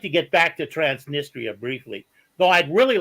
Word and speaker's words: Transnistria: have a question about transnistria and I know that our good friend uh um Scott Ritter pronounces transistoria but he's really the authority